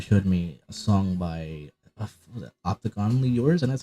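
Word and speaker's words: Optiganally Yours: But FM had showed me a song by Opticonally Yours, and that's how you pronounce it.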